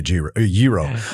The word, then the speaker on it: gyro: I I'll say gyro depending on where I am. I feel pretentious if I say yro. Uh, can I have a yro? It just sounds weird.